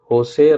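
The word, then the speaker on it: José: खिसक गया कौन प्रेसिडेंट होसे राहुल म्युलीिनो मुलीनो म्यूिनो जो भी बोले लेकिन इसका जो प्रोनाउंसिएशन है वह होसे है मतलब जे साइलेंट है ठीक है होसे राहुल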